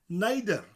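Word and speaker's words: neidr: Nai, and then the letter D, like a death sound, followed by a rolling R.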